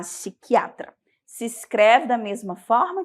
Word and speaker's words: psiquiatra: o psiquiatra tá bom mesma coisa a gente vai aí suprimir o p e vai falar psiquiatra se escreve da mesma